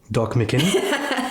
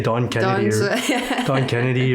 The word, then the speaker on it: Doc McKinney: Doc McKinney. I always mess it up. I always say Don Kennedy or Doc McKinney and El Angelo.